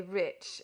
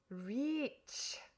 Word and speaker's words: rich: "Our English adverbs do not terminate in mong, and we pronounce the ch as if there were a t before it. We say rich." "Reach," remarked the foreign gentleman.